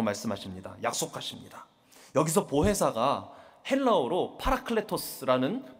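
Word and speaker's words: παράκλητος: 여기서 보회사가 헬라어로 파라클레토스라는 발음라고 발음하는 단어인데이 뜻은 조력자 경려자 중제자라는 뜻을 가지고 있습니다.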